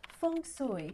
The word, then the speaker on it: Feng Shui: It's pronounced Feng Shui in Cantonese. Feng Shui. Feng Shui. One more time. Feng Shui. And in Mandarin, it's Feng Shui. Feng Shui. Feng Shui. Hear the difference?